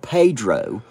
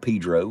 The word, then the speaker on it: Pedro: little place called Pedro it's spelled Pedro so if you're Spanish you would say Pedro but all the hillbillies called Pedro and around here it's just Pedro and uh it's a